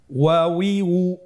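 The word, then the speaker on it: و: ওয়াও জবর ওয়া, ওয়াও জের উই, ওয়াউই, ওয়াও পেশ উ, ওয়াউই উ। আবার বলুন ওয়াউই উ। হা হরফটি হরকত দিয়ে কিভাবে উচ্চারণ করতে হয় স্ক্রিনের দিকে লক্ষ্য করুন এবং আমার সাথে বানান করে উচ্চারণ করুন।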